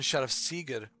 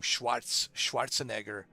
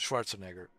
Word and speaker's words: Schwarzenegger: I mean, I couldn't pronounce the name Schwarzenegger. So I called him Sheriff Sieger.